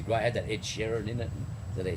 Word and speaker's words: Sheeran: It had that Ed Sheeran in it. Did they say his name? Ed Sheridan. No, Sheeran, isn't it?